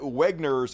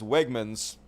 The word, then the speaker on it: Wegmans: it even funnier that he mispronounces one of the uh very popular local grocery store I think he calls it Wagner's and it's Wegmans started doing grocery shopping